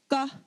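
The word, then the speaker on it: ཀ: So this first letter is pronounced ga, ga. This is actually like the C in the word scar as opposed to the C in the word car.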